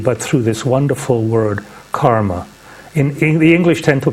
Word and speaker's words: karma: It's actually a short A, not a long A, but this is a word that through Theosophy has entered the English language.